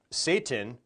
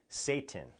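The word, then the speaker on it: Seyton: is a character named Satan and this name Satan is spelled s y t n but it sounds the same as this other word in English Satan which means the devil so the fact that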